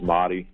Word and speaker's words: Mahdi: So my first name's Mahdi, and it's in Arabic. That's the English pronunciation, so everyone says Mahdi, and then my last name is. It's Italian.